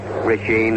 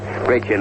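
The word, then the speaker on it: Brecheen: Chris was later relieved by Rashine or Richen, however he pronounces it. A little difficult for me because I've been calling him Rashine all season all season, but I believe Richen is correct.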